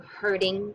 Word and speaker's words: herding: talking about the idiom hurting cats not hurting that's mean hurting make sure you're making the D sound at the end of that word hurting cats okay if